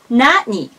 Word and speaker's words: 何: And this could be pronounced Nani or Nani. Both of them are good.